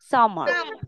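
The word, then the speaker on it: summer: ইংলিশে এটাকে আমরা কি বলি সামার সামার রটা উচ্চারণ করবো না সামার তারপর কি বর্ষাকাল বর্ষাকালকে আমরা কি বলি মনসুন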